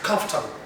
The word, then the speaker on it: comfortable: That word is pronounced as comfortable.